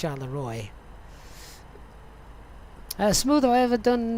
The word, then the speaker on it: Charleroi: it yet that bani charleroi is pronounced shaluwar really that can't be right can it shalom i thought it was at least charla roy uh smooth i've ever